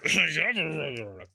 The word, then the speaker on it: Javier: There are people who pronounce my name Javier, Javier, Javier. If you don't know how to pronounce it, it is Mr. Javier.